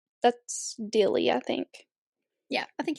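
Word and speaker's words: Dealey: it might be called de Square don't remember it's spelled D e a l e y That's Dilly I think yeah I think you're right anyway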